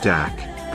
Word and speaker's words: dak: This is where we get the name dog star for Sirius, from, the word dog stemming from the Aryan word dak, pronounced similar to the German word dock.